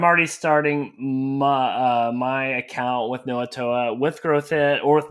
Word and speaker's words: Knowatoa: It's Knowatoa. It rhymes with Krakatoa, and we came up with a weird name so we didn't have to fight so much trademark weirdness.